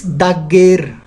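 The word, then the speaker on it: dager: And days is dagger.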